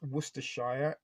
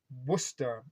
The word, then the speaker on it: Worcestershire: looks like it is worcestershire it is pronounced Worcester is that right C